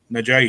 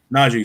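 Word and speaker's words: Najee: mock drafts and everything like that and uh nigeria here and the g harris how that's how you say it looks like he might be the pick at that time naji sorry um and our running backs it's gas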